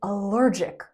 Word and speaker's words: allergic: She is allergic. The noun is allergy. Allergy. The adjective is allergic. Allergic. We say allergic, not allergic. Word stress and word formation.